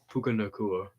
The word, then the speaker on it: Puka: Eagles I don't know pukaa is how you say his name yeah is maybe offensive